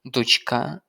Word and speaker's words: дочка: Донька на перший склад, дочка на другий.